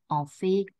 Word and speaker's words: en fait: Fais attention, on prononce la lettre T à la fin, en fait, en réalité.